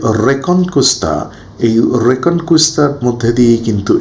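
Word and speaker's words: Reconquista: আইবেরিয় উপদ্বীপ বলছি সেখানে রিকংস্তা বলে আমরা একটা শব্দ পাচ্ছি যেটাকে ইংরেজিতে এভাবে উচ্চারণ করা হয় অরিজিনালি স্প্যানিশ প্রোনাউন্সিয়েশন হবে রেকনকুস্তা এই যে রেকন কুস্তা রেকন এখানে কিন্তু আমরা দেখতে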